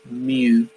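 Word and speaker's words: μ: That is the Greek letter mu. It's pronounced mu, MJU.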